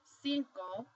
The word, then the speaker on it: cinco: So for example, you have this word, cinco. The C, the first C is followed by an I, so it's going to make an S sound, whereas the second C